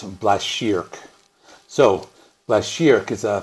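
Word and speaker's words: Blashyrkh: to go Google it I think it's black sheerk so last year because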